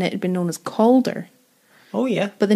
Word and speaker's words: Cawdor: little bit yeah because there's a lot of calder coder stuff in the house and i thought if you said colder like colder like it sounds a lot more like colder right if you were to